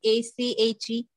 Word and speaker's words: ache: Speaking of Achi, ma'am, what's the pronunciation of that word, A-C-H-E? Sorry, ma'am, I cannot hear you properly. You pronounce it ache.